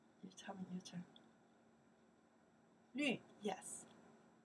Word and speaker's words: 绿: 绿, yes.